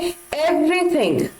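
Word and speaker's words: everything: अब अगर आप सुन रहे होंगे ध्यान से तो मैं र को ज्यादा जोर डालकर प्रोनाउंस नहीं कर रही हूं, जैसे मैंने कहा था एवरीवन, तो मैं एवरीवन नहीं बोल रही हूं, एवरीवन। उसी तरह से एवरीथिंग, और वी आ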